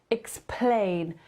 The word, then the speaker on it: explain: czytałam tego jako ex ponieważ akcent pada na Plane więc to będzie ex tylko explain i Akcent będzie na Plane explane tu cały Akcent Let